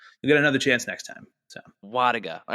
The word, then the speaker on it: Wlodyga: So the L is silent. So it is Wlodyga. Wlodyga.